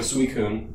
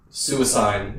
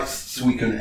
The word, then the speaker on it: Suicune: You know how like it just made me think of Suicune. Yeah. Right? That literally I always pronounced suicide until somebody corrected me.